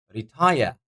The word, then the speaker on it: retire: the stress on butterfly retire retire second syllable retire as as you might feel retire higher the second syllable is pronounced louder secondary secondary that would